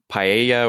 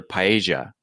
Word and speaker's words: paella: spanish person's apartment but in japanese it's pronounced paella when really the spanish pronunciation is more like paella or paella depending on your dialect yes yes yes that